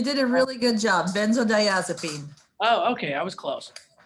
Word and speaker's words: benzodiazepine: anxiety epilepsy neuralgia withdrawal symptoms from opiates or benzodiazepine i don't know if i know how to pronounce that last one debbie debbie could probably help me with that you did a really good job benzodiazepine oh okay i was close um why else